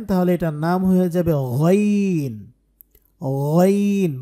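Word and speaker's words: غين: এটার নাম হয়ে যাবে গাইন গাইন বাংলায় যে গ আছে আছে না গ ওই গ কে কে একটু মোটা করে বলতে হবে গ তাহলে গাইন হয়ে যাবে কারণ গাইন হরফটা যথেষ্ট মোটা একটা হরফ আর বাংলায় যে ক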